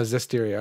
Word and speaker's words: Zestiria: Oh, Zestiria.